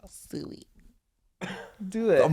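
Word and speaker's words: Siu: Wee.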